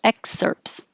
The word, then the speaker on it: excerpts: mark there mine excerpts we don't really make the t the pts excerpts so just skip the t excerpts and these are two